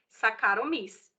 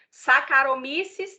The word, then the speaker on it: Saccharomyces: Escreve Saccharomyces com CH, mas fala Saccharomyces. Tá? O CH tem som de K, tá certo?